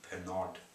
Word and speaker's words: Pernod: Even better, the company who make Pernod, the drink, P-E-R-N-O-D, Pernod, pronounce Pernod, were giving out free drinks, basically.